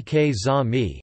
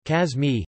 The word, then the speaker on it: каза̀ ми: The stress is often written in order to signify a dialectal deviation from the standard pronunciation. Kaza mi ke za mi, he told me, instead of kaza mi, kaz mi.